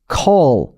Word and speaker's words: call: 그러니까 우리나라 말도 전화할 때 콜 이러는데 그건 그 진짜 O 발음, 우리나라 말 O 발음 콜. 영어는 call 이렇게 된다는 거죠.